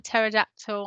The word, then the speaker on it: pterodactyl: at it it's a pterodactyl i'd be looking at it i'd be tracing the letters remembering that silent p at the beginning write it down and